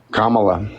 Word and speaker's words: Kamala: Panda thank you comma can you say it Kamala there you go why is that matter to